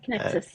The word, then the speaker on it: Kinexys: Well, one of the products uh that I'm really keen to learn more about is Kexus. Is that how you pronounce it? Yes, Kexus.